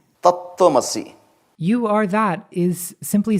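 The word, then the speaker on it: तत्त्वमसि: Can we YouTube search how it's pronounced? Tattvamasi. Tattvamasi.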